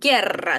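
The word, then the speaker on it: guerra: Так, у випадає. Правильно. І далі подовже на ри. Герра.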